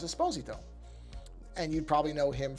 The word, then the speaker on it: Esposito: now often mispronounced as Esposito but it is not actually supposed to be pronounced that way he's very specific about that and he's correct the Italian pronunciation of the last name is a sposito and you'd probably know